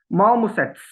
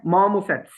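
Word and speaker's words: marmosets: पहले तो ए ठीक करना है, दूसरा आर के बाद जब भी कॉन्सोनेंट आए तो आर नहीं बोला जाता, तो इसकी प्रोनाउंसिएशन होगी माओमुसेट्स।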